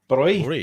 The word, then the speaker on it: Bräu: Broi. Broi. Brui, Oh, yeah. interesting. So, like So- the A umlaut, it's like Hofbräu, Löwenbräu, like it's Brui rather than Brow.